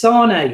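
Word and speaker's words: Sané: It's Sane is how you pronounce it.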